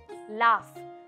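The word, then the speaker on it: laugh: काय जरा सांगा मला एल ए यु जी एच असतो ते लाऊफ लाफ टफ कसं आहे तसंच लाफ लाफ म्हणजे हसणं हसणं ना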